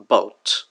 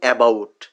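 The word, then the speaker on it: about: অনেকটা আমরা এর আগে শোয়া সাউন্ড দিয়ে উচ্চারণ করেছি বাউট, বাউট, কিন্তু মূলত আমরা বলতাম অ্যাবাউট, এটা উচ্চারিত হয়ে যাচ্ছে বাউট। এই যে অ্যাবাউট হওয়ার কথা, আটা হচ্ছে না কেন? কারণ এটা শোয়া সাউন্ড।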